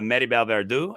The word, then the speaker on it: Maribel Verdú: are in this movie mhm, and talk about Maribel Verdú as Mercedes. mhm. She Excellent pronunciation, by the way.